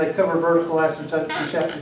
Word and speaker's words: asymptotes: spell it right okay it's totes like thing old umbrella coats same old asymptotes some people know like